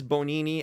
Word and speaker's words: Bonini: But no, it's Bonini, and the way Mauro, I think, said it sounded like bologna. That's how you pronounce it.